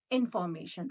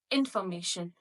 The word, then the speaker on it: information: Here we just need to skip O. It is information, information, information, information. Just skip the O sound and the pronunciation goes like information, information.